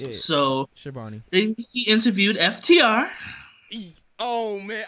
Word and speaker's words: Schiavone: Yes, Tony Schiavone, the announcer. I just wanted to make sure because I know there's different pronunciations. And I hate mispronouncing names. Yeah. So Schiavone.